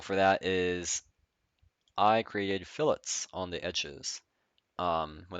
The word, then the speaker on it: fillet: it by the way this is pronounced fillet not filet it is never filet you don't eat cubes um this function allows